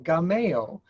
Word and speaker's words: GAMEO: I pronounce it Gameo, but I know that people who have backgrounds maybe in Spanish or French often say Gameo.